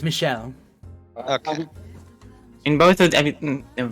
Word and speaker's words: Michel: Michelle is the French version of Michael, so technically Okay, speaking, rather- it is pronounced Michelle.